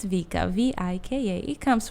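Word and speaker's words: Vika: with my name lately people think it's zika Vicki Victoria which people spell it sometimes maika Kika whatever it is people will say anything but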